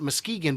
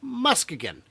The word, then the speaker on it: Muskegon: the city council did confirm a few years back that for the day of these events, it is officially not Muskegon, but Muskegon. Still spelled the same, but you guys can call it whatever you want.